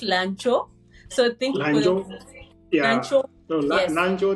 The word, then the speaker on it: Lanzhou: that, okay, you have successfully been admitted to Lanzhou University for master's program in ecology.